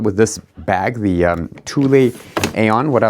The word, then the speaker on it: Thule: So, these are also tulle. It's a Swedish brand. I think it's pronounced tulle or tul.